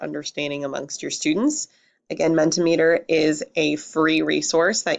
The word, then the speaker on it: Mentimeter: amongst your students again Mendte meter is a free resource that you can sign up for and it spelled like centimeter with a capital m